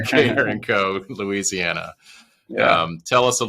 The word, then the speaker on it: Carencro: Carencro. Carencro. I should know that by now. You got to get that little Cajun in you there. Carencro, Louisiana.